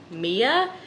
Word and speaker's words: Aima: a company from Amazon if I'm pronouncing it right it's um Mia a-i-m-a Beauty they send me over